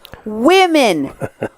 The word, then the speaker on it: women: It's pronounced women. Woman is singular. Women is plural.